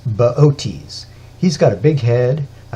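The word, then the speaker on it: Boötes: the lap of baotis if you saw his name spelled out you'd want to pronounce it booties but it's baotis he's got a big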